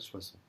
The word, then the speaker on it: Soissons: Au nord de la Loire et conquis la capitale Soissons. Ok. C'est vraiment ça. Il ne faut pas du tout entendre les N.